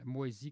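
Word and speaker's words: Moisie: dans dans le temps moisi comme ça se prononce moi sis comme moisi quelque chose qui B c'est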